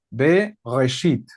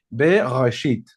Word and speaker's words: Bereshit: En vez de Génesis, su nombre correcto es Bereshit. Y ahí es como si tuvieras decir gutural. Ahí luego te vas a esforzar para pronunciar en hebreo. Bereshit.